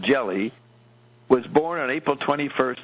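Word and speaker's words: Gelli: book called God's banker Mr jelly pronounced jelly was born on April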